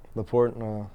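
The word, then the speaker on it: La Porte: uh Houston Texas how how do you spell that place leaport uh La space p o r t e okay there is an alen it's like a French okay the door really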